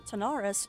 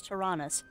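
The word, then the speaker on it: Taranis: If we have materials, we can enhance the performance of the Tanaris more and more. Did I actually say that right? Tyrannus, no. I said it wrong again. It's Tyrannus. I need a posty note.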